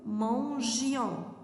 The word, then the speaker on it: mangions: Nous mangions. Mangions. Pourquoi, madame, tu n'as pas mis ici le E? Parce que, mademoiselle et monsieur, le I, le G avec le I, ça prononce G.